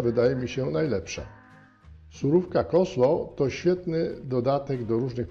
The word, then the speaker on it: coleslaw: wyjaśnienia w Polsce popularni nazwę tej surówki wymawia się jako Colesław oryginalna wymowa to koslo koslo konsola a ja